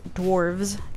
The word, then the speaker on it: dwarves: fun little fact to the plural of fantasy dwarfs is with a V so I'm actually saying it wrong it's dwarves DW R VES and the plural of